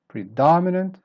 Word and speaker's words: predominant: mean one syllable pertinent predominant start weak then up and down again predominant the dada prodigy start